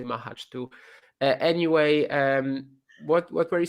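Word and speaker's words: Majchrzak: But anyway, like Mahach is probably the correct pronunciation, but honestly, I say Mahach too.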